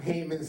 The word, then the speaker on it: Haman: and you're blotting out Haman's name from under heaven. Okay? And by the way, Haman, do you notice Haman's name rhymes with another name? Haman, Satan, Haman.